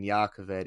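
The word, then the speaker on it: Jah Keved: The J in Yakovet is a Y.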